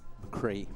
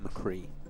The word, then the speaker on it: McCree: McCree. McCree. It's like a double E phonetically.